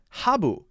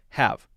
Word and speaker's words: have: going on here is that she's adding a b so i'm hearing habu now that could confuse people that could make people not understand what she's saying so there change it to a one syllable word and make sure the b is a v sound have have do you